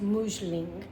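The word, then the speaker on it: Musling: It is spelled M-U-S-L-I-N-G, but it's pronounced Mousseline.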